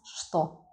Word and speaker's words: что: Have a look carefully because we spell it with ch, t, o, but we pronounce что.